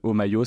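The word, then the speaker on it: Homaio: Omayo, ça s'écrit H-O-M-A-I-O.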